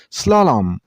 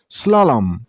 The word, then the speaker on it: slalom: This board name has only two syllables. Slam. You stress on a part level. I mean in slow sound. Slalom. Slalom.